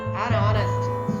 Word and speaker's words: honest: An hair, honor, an honor, an honest. So honest, honor, or these are the words start with the vowel sound.